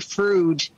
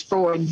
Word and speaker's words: Freud: So now, Paul, just FYI, in Detroit, we call it Frood. We know the proper term is Freud, but we refer to it as Frood.